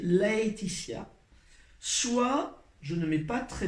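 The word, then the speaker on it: Laëtitia: Soit je l'écris L-A-E, tréma sur le E, et ça doit se prononcer Laetitia.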